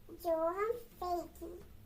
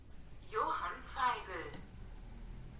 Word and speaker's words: Johann Feigl: Johann, primeiro vamos saber como que pronuncia. Johann Feigl. Johann Feigl. Johann Feigl. Johann Feigl. Johann Feigl. Johann. Claro que é Johann.